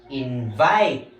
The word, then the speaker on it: invite: In our first word, invite. Why do we pronounce it as invite?